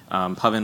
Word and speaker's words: Pavan: And if we end up running into each other afterwards, Pavan rhymes with oven.